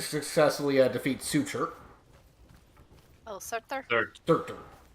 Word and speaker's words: Surtur: Surtur. Right, it's pronounced Sur. Or Surt.